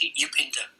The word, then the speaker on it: Upinder: Julie or Arika, is it Upinder? Yes, Upinder. Upinder. Oh, sorry for the mispronunciation.